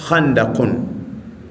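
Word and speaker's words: خندق: Sisi kwa kiswahili tunalema haandaki lakini kiarabu chenyewe inatamkwa handakun.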